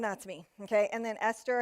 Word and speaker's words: Esther: me okay and then esther has a silent h which if you know the bible you're used to that if you don't know